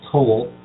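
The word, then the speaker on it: כֹּל: 16 in particular is the Hebrew 3605 it's pronounced coold and it's from the Hebrew 3634 properly the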